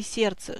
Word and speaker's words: сердце: буквенном составе слова если слове есть непроизносимое согласно и она звука не обозначает в слове сердце 6 букв но 5 звуков удвоенная согласная также обозначает